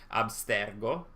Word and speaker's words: Abstergo: the verb absterge uh actually the the proper pronunciation should be abstergo uh that's latent so that's also italian and